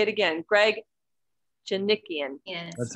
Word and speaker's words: Djanikian: Greg Djanikian.